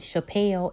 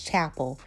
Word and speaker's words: Chapel: book and realized that her name wasn't Chappelle, it was Chapel. I was the one being ghetto trying to make it rhyme with Chanel.